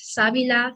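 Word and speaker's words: sábila: cousins um fun fact savila sounds like saliva which means saliva sometimes you know i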